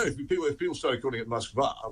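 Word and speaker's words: Москва: If people started calling it Moskva, which is how it's actually pronounced in Russian, everyone would say, "Where's that?"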